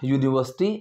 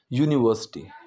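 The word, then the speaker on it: university: करूं यूनिवर्सिटी की so what is the sound when we pronounce यूनिवर्सिटी य यूनिवर्सिटी यूनिवर्सिटी तो य की जो साउंड है वो ए आ यू में कहीं नहीं आ रही दैट इज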